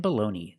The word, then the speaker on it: baloney: Baloney and baloney, they're pronounced exactly the same. This is American English. I know in Italian it's Bologna, but this is not Italy, this is America. We say baloney.